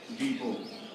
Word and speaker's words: depot: यदि किसी शब्द के अंत में टी हो और उसके पहले ओ हो तो टी का उच्चारण नहीं करते हैं।